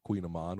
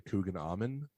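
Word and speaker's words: kouign-amann: lady came in and she wanted the queen of queen aman which is like a it's spelled like in a it's like c-o-u-i-g-n or something and then a-m-o-n it's like two words and so she called it a cougar almond and she's like can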